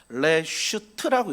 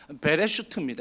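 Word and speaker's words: בראשית: 히브리어 읽으면요, 오른쪽부터 읽으면 베레슈트라고 읽습니다. 베레슈트입니다.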